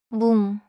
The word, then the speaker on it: 문: 문, 문, 좋습니다. The final consonant is 니은. So finish with the tongue, not the lips.